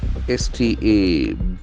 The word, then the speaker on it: stability: S-T-A-B-I-L-I-T-Y. As we know, T-Y endings was being nouns. Stability. Okay, stability. The accent falls from the second syllable. Stability. Okay, the situation in which something is not likely to move or change.